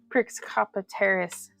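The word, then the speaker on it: Pecopteris: So yeah, we're gonna wrap this Velociraptor, Prixcopteris. We're gonna wrap this fossil. It's a hard C in Latin for cop. Oh, for a K sound.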